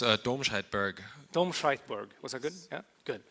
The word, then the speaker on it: Domscheit-Berg: you say your last name now it's a doshite BG domberg was that good yeah good perfect and also